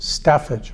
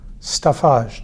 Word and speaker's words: staffage: today we begin with the word staffage or staffage depending on how you like to pronounce it it refers to those